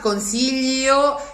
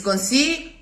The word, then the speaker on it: consiglio: It's an imaginary vowel, that I. It's not consiglio, it's consiglio. So the grip of the tongue on the palate is stronger, but it passes through a schwa, not through an I, to go through the final O, or through nothing at all if you prefer. O. There's no I whatsoever. It's spelled, but it's only to make clear that it's not gl but l.